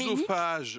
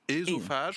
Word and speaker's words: œsophage: Lorsqu'il y a le O et le E en début de mot, ça ne se prononce pas E, ça se prononce E. Donc quand on dit Écuménique. œsophage, on devrait dire ésophage. Quand on dit Quoi Oedipe, on devrait dire Édipe.